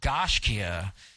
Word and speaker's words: Gaiscioch: It's pronounced Gaiscioch.